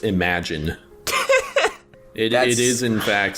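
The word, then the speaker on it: Imogen: Her name is pronounced Imagine.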